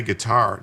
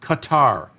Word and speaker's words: Qatar: Did Jim say Qatar? No, Qatar. Gutter. I think it's either gutter or Qatar. I don't know. I think they used to pronounce it gutter. Now it's Qatar.